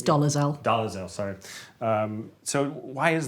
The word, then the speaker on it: Dolezal: But if someone said, like Rachel Dolezal, or however you pronounce her name. It's Dolezal.